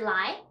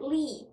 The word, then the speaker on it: Li: it as li mr lai no you can't kiss l i in chinese we pronounce it it is not mr lie it is mr lee so uh another example